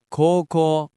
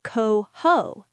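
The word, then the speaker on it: 高校: Coco coco u co u. The o u makes a long o sound. It's coco, not coho.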